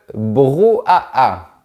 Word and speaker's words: brouhaha: Tu dois enchaîner les sons. Ou-a-a. Ou-a-a. Ou-a-a. Le brouhaha. Il y a aussi un